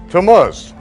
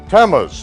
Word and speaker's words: Tammuz: Can anyone pronounce that for me? Tammuz. Tammuz.